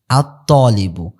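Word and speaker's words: الطالب: আচ্ছা, আত-তলিবু, আত-তলিবু, এখানে কিন্তু লামটা উচ্চারিত হয়নি, কারণ কি, কারণ হলো ত, এই যে দেখেন ত হলো কি হরফে শামসিয়ার অন্তর্ভুক্ত। এরপরে আসুকারু, সিনটা কি আসুকারু,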